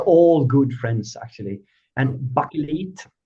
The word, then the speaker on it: Bakelit: And bucket that's the way we pronounce it in Swedish.